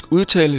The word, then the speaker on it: Jedi: In English, Jedi is pronounced like Djedi.